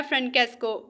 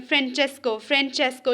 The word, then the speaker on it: Francesco: अब देखें इसमें ये जो स्पेल ने FRANCESCO लग रहा है ऐसे कि इसे प्रोनाउंस करना है फ्रेंकेस्को, बट नो, जब इसकी प्रोनाउंसिएशन निकाली गई और ये निकला है फ्रेंचेस्को, ये चा की साउंड पता नहीं किधर से ये निकाली है, तो इसे फ्रेंचेस्को बोलना है.